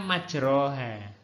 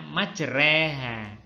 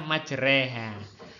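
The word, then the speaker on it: مَجْرٰىهَا: anak ya waqolarkabu PH bismilahi majreha tulisannya majroha Tapi bacanya majreha Hai kak lagi majroha tulisannya Tapi bacanya majreha bukan majroati agak dimiringkan ke arah kasrah majreha wa mursaha itulah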